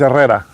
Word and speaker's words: Herrera: Dennis Herrera. I know. I hate saying it in English, but that's the way that is pronounced in English apparently. But it's Dennis Eera.